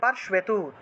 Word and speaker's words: পার্শ্বেতু: পৃষ্ঠতঃ, অজিতা বাম পার্শ্বেতু, পার্শ্বেতু তালবস্বরের নিচে বফলা আছে আর একার ছিল, তাহলে পার্শ্বে উচ্চারণ হবে, তালবস্বরের নিচে বফলা থাকলে সু উচ্চারণ হয়।